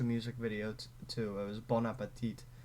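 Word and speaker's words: bon appétit: It was Bon Appetit, which actually pronounced bon. Or no. The N is the liaison because appetit starts with a vowel.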